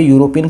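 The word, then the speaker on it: European: तो यहां पे यूरोपियन की जो साउंड है जो प्रोनंसिएशन है ये है कंसोनेंट की।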